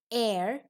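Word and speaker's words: heir: we are saying an air and honor so here the sound h is not pronounced similarly here also the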